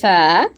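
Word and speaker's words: ث: এটা হচ্ছে জিহ্বার আগা থেকে উচ্চারণ করতে হবে। সা, সা, সা, সা। সা, সা। আপনার সা, জিহ্বার আগাটা সা। সামনের দুইটা কর্তন দাঁতের আগার সাথে লাগান।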